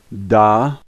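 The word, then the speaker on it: да: the first letter is dead and the a is pronounced like our a and so this word is da this is the Russian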